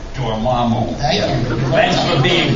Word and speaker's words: Dormammu: I never knew that was the pronunciation. Dormammu.